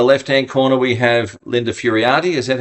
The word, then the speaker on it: Furiate: Y think y and up in the lefthand corner we have Linda Furiotti. Is that how I pronounce it?